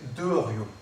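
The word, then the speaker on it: Derruau: Jusqu'à mon nom, Deruo. D-E-2-R-U-A-U. Que dans la famille, on a longtemps prononcé Derio.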